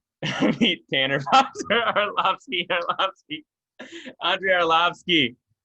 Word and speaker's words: Arlovski: much but yeah no it's easy to say arlovsky it is but if you want to say oh obscure you know right away you're saying it wrong you can't return from that or olafsky you're screwing oh my goodness all